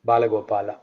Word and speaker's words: Gopala: Gopal is say it like Bala Gopal. Yeah. Bala Gopala.